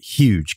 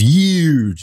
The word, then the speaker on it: huge: actually I entitled it huge convergence conversions excuse me print pronouncing the H unlike a lot of people on TV do well one person in particular who says huge so I guess I